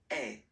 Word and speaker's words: es: And for tu, then you get this combination of letters, okay? But then basically the sound you will pronounce or you will produce is est, okay?